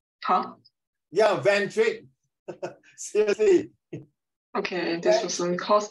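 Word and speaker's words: Van Dijk: How do I pronounce this person's name? Van Dyck. Huh? Yeah, Van Dyck.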